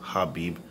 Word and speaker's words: Khabib: Cub Habib it's pronounced Habib but it's khabib but it's happy you know I'm saying anyways